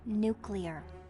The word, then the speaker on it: nuclear: You said the word wrong, Reed. It's nuclear. Yeah, I know. Nuclear. You did it again. It's pronounced nuclear. That's just what I said. Nuclear. Hun, listen to me. It's nuclear. You're adding a U in there.